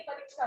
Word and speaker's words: परीक्षा: तो इसमें बड़ी ई की मात्रा आती है ना, छोटी ई की मात्रा गलत होती है परीक्षा में। तो परीक्षा इसका उच्चारण शुद्ध होगा परीक्षा, ठीक है।